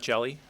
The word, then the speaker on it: Hjelle: My name is Jelly.